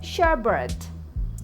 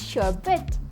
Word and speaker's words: sherbet: Many people say this as sherbet, but it's sherbet.